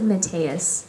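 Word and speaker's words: Metias: brother how do you pronounce his name I pronounce it matus all right thank you yeah it's a really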